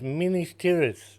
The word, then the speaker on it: Minas Tirith: It's Minas Tirith, and even he pronounced it wrong.